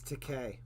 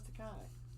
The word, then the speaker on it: Takei: Okay, so it could be it rhymes with Takai. It's Takei. Takei. George Takei. I thought it was Takai.